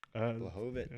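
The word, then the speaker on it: Błachowicz: Blachowicz.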